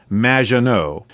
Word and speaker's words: Maginot: It's Madge, which rhymes with badge. As in duh, and no as in more than you. Maginot.